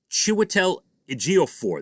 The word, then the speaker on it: Chiwetel Ejiofor: Pronounce it Chiwetel Ejiofor.